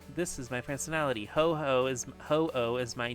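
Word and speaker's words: Ho-Oh: In the in the English version, hoo has a dash between its name. So, it's like I know in the Japanese pronunciation it's supposed to be a long o sound and I think that's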